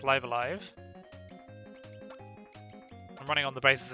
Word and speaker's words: Live A Live: How do you pronounce live alive? It's live alive.